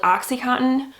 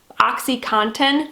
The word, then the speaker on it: OxyContin: time saying that because my midwest accent does not want me to pronounce that t that's in there oxycontin just sounds weird to me so i'm sorry